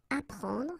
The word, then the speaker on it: apprendre: The first one, apper, so app, you will get apprendre, apprendre, okay, you don't pronounce the double P, apprendre, so here is what it means, okay, apprendre.